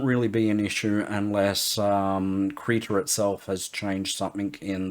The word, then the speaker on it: Krita: I believe it is pronounced Krita.